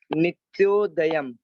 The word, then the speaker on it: नित्योदयम: उच्चारण देखते हैं तो नित्योदयम, नित्योदयम, नित प्लस यो प्लस दयम, नित्योदयम।